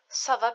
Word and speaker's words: ça va: So to reply how are you, you can say ça va bien. It's going good. Notice how we pronounce this as an S.